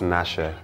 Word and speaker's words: Natse: no no because I it's pronounced Nasher jeez I knew it